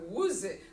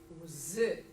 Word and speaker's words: łzy: would want to say, it looks like a one-syllable word. Łzy. I would put the stress on the first one if I łzy, but that's not the word, it's łzy. Łzy.